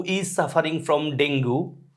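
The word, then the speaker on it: dengue: হু is suffering from ডেঙ্গু যদিও ডেঙ্গু উচ্চারণটা হলো ডেঙ্গি আমরা পড়ি ডেঙ্গু ড্যাশ দিস মেডিসিন এখানে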